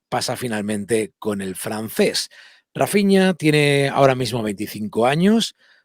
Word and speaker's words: Raphinha: o rapiña o rafinha después de consultarlo con gente que habla portugués que es de brasil se pronuncia la línea y lo vamos a llamar rafinha en adelante para que